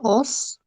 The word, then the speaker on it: was: ¿Cómo se pronuncia? Os. Was, como si fuera una O, was. No es was, como algunos piensan, es was.